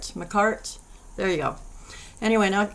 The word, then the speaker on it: Makartt: I always pronounce that wrong. Makartt.